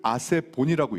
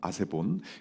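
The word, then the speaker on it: ἀσεβῶν: 그 여러 명을 뜻에는 아세베스를 아세본이라고 읽습니다. 아세본.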